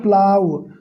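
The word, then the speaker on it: plough: और प्लाव मतलब जोतना, इसको पढ़ेंगे प्लाव, प्लाव है नहीं, ये साइलेंट है, GH, प्लाव, प्लाव।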